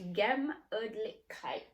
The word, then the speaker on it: Gemütlichkeit: It's pronounced Gemütlichkeit.